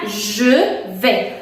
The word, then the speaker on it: je vais: Je vais significa yo voy y se pronuncia je vais. Je vais, te lo escribo como siempre, más o menos como sh, aunque no es sh, es j.